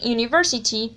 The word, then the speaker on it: university: For hour and university, it is different, and it is that in hour, the h sound is not pronounced, and in university, the first sound is u.